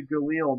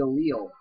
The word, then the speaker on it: Galil: yeah that's another thing guys fun fact it's pronounced Famas not fam and the it's the Galil not the G you can even call it the Galil I won't hold you against it for that